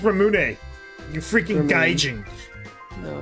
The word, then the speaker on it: ramune: Ramoon. I love Ramoon. What's that? The soda? It's got like the ball in it. It's pronounced Ramune.